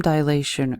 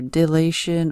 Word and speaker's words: dilation: All right, what is time dilation or dilation or dilatation? Heard it pronounced many different ways.